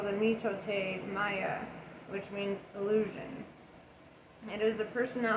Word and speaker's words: mitote: which the toltecs called a mitot oh mitote i love that they added the pronunciation there you talked your